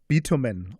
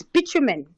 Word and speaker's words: bitumen: And tell me in Darling about what is betamin or is it bammen? How do you pronounce it? What is that? It's it's bitumen.